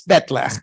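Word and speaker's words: bat'leth: And everyone pronounced it batleth, which is not Klingon at all, phonologically. So I kind of Klingonized this. When you're speaking about this weapon in Klingon, it's betleth. But when you're talking about it in English, we're stuck. It's batleth.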